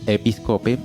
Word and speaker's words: Episcope: Bueno, para la banda Episcope, se escribe así como está sonando, Episcope, Fusion Trio, Episcope.